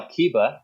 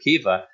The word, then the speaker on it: Kiba: spelling and the pronunciation it's now Kiba instead of keifa but obviously the the